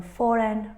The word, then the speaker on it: foreign: the silent letter here a silent letter is G in all these words letter g is silent is not pronounced we